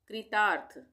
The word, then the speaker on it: कृतार्थ: पढ़ेंगे कृतार्थ कृतार्थ कृतार्थ कृतार्थ नहीं पढ़ेंगे क्र हम बनाएंगे तो यह इस तरह से यह वाली पदेन की मात्रा हो जाएगी। यह हम पढ़ेंगे कृतार्थ। कृतार्थ यहां पर एफ की मात्रा भी आ रही है। आधी र के लिए कृतार्थ।